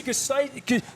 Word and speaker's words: Gustitis: Gustitis. Gustitis. Gustitis. Gustitis rhymes with, what's it rhyme with? Arthritis.